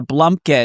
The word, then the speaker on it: blumpkin: Like pumpkin, but B L U M P K I N.